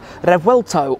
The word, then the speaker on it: Revuelto: And in fact, in Spanish, the V is pronounced a little bit more like a B, kind of revuelto. In Italian, it is revuelto.